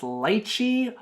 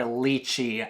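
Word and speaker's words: lychee: question of the day do you pronounce Lis fruit as Lei or leachi I personally pronounce it as Lei and I spell it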